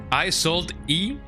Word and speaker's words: Isolde: I sold E. I don't like that woman. Woman in my right eye. Isolde is how you pronounce it.